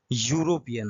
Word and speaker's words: European: আচ্ছা, এই ওয়ার্ডটাকে যদি আমরা ভেঙে দেখি, এর উচ্চারণ হচ্ছে ইউরো। ঠিক আছে, ওয়াই ইউ দিয়ে হচ্ছে উচ্চারণটা অ্যাকচুয়ালি, ইউরোপিয়ান নাকি ইউরোপিয়ান, ইউরোপিয়ান কিন্তু নয়। তাহলে ইউরো মানে ওয়াই এর উচ্চারণ যেহেতু আসছে, তার মানে কনসোনেন্টের উচ্চারণ, তাই তো?